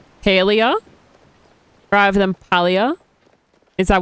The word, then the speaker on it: Palia: PALIA rather than PALIA.